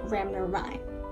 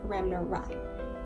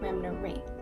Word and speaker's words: Ramnaraine: People who are familiar with this last name often overlook the A in my last name and they mispronounce it as Ramnaraine. This is incorrect and it should be pronounced Ramnaraine.